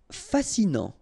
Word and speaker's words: fascinant: Fascinant. Final T not pronounced, so you get this A-N. Non.